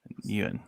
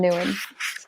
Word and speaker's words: Nguyen: Nguyen. Okay. Think of Nam from figure skating. Nam Nguyen.